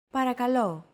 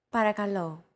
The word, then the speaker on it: Παρακαλώ: Don't forget that words get accentuated in Greek, so make sure to stress that final syllable with the accent mark. Repeat after Chrissy. Παρακαλώ. Παρακαλώ.